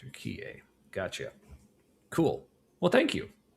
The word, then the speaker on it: Turek: Oh, so apparently it's pronounced turquier. Okay, I thought that's how it was. Turier.